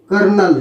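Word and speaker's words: colonel: सकते हैं ओके पर क्लिक करना है कि कर्नल हिंदी में कैसे लिखते हैं लेकिन इंग्लिश में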